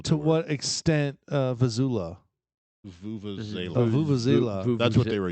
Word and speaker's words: vuvuzela: It's the Vuvuzela. Wikipedia It's pronounces it. Vulva-zella.